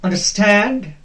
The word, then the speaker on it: understand: Here, understand. Do you understand? We do not pronounce it as understand. No, that is wrong. Understand. The second part will be stressed.